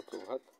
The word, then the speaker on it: প্রভাত: পঞ্চম নিয়মের ক্ষেত্রে আমরা দেখতে পাচ্ছি ঠিক একইভাবে শব্দের প্রথম অ এবং তারপরে প্রফলা ব্যবহার হলে অয়ের উচ্চারণটি ওকারের মতো হয়ে যাচ্ছে, মানে ওকার হচ্ছে, যেমন প্রভাত প্রভাত।